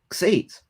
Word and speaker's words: Xate: This is how you pronounce Xate. X, X, 8, X, 8, Xate.